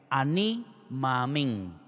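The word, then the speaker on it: אני מאמין: dos palabras en hebreo que se pronuncian de la siguiente manera. Aní maamín.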